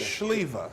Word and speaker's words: Sliwa: Schlieva.